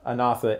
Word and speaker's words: Anatha: Okay, so the name of the startup firm you're working with is, I always forget the pronunciation. Anatha.